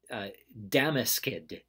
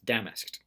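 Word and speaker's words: damask'd: into fancy cloth if it had been spelled by the way with an e d and said an apostrophe D that would be Damus Kidd but the apostrophe tells us that that's just two syllables damn asked ok it would be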